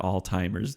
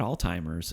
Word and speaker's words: Alzheimer's: lauren alzheimer's degr disease it's not alzheimer's disease which i've heard people say before one of our friends